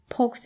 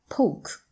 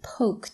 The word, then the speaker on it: poke: Okay, he poked the fire. Poked. He poked the fire.